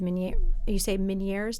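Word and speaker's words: Ménière's: You were diagnosed with Meniere's disease.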